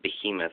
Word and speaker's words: behemoth: off this monster I know that it's actually pronounced behemoth and I just said to him off for